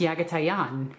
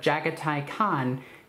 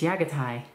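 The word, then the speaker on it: Jaghatai Khan: it annoys people like when i pronounce yaga taiyan instead of jagatai khan because that's not the way mongols pronounce a language it's yagatai anyway macedon is in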